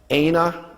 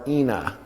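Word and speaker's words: ܐܢܐ: Technically, let me put it this way, in Aramaic, it tends to most often be pronounced, even though you can see that it's the same you can see that it looks like Anna. It tends to be pronounced as Aina or Ina, okay? Or even Inna.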